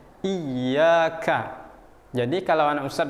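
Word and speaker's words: إِيَّاكَ: Nah, ya bertasdid ini maka kita akan tekan sedikit. Iyyaka.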